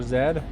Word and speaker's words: Z: World War Zed was a pretty good show though. I know it's Z, but I naturally read that as Zed cuz I'm a Canadian.